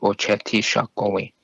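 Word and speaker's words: Oceti Sakowin: They recognize each other as Ocheti Shakowi, which is the 7 council fires, and that's how it's pronounced, Ocheti Shakowi.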